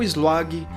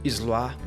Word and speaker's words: Sluagh: O Slog, que pode ser também pronunciado como Zluar, estava ainda num panteão